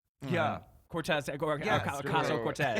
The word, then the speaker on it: Ocasio-Cortez: And Alexandria, how do you pronounce her name? Yeah. Cortez, Yes, Ocasio-Cortez.